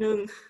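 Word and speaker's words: หนึ่ง: There will have H sound in front of N. So how will we pronounce the H sound? Actually nung. You don't pronounce ho hip, like it is just only in the writing system. But when you pronounce no no only, the N sound only.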